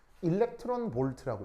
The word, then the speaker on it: eV: 얘 어떻게 읽냐면 일렉트론 볼트라고 읽어요. 아시겠죠?